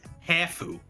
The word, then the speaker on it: Hafu: Yeah, actually, Ryan, why don't you call her Hafu? Because I respect the way people want things to be pronounced.